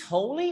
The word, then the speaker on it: holy: It's holy or holly?